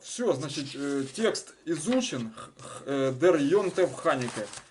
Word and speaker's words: יום־טובֿ: Дер Йонтев Ханике. Можно сказать, вот здесь вот вместо вейс конечное, как ф произносят, это на прононсе. То есть Йонтеф, ошибки не будет.